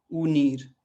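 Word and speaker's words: unir: आखिरी जो स्वर है ऊ, है ना, ऊ, इसको यू नहीं पढ़ना है। एक बार फिर से हम क्या पढ़ेंगे, ऊ। तो ऊ से क्या बना, उनीर।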